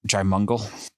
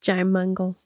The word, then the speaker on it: Jaimungal: Strange podcast that just started existing called Theories of Everything with this dude, Kurt Jaimungal, that's how he pronounces his name. Jaimungal.